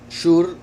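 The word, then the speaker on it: שור: Shur se escribe exactamente igual que Shor, solo que se pronuncia diferente. Shor y Shur con Vav, ¿verdad? A veces como O, a veces como U.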